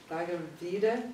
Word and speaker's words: Bhagavad Gita: Bhagavad Gita.